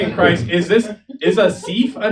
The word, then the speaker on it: Asif: Uh, my name is Asif, it's spelled A S I F like as if.